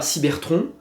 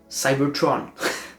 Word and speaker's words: Cybertron: Donc je ne dis pas Cybertron, je dirais Cybertron.